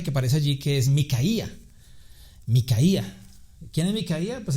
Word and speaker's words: Micaía: Dice que había un hombre llamado Micaía porque tiene la el acento en la I.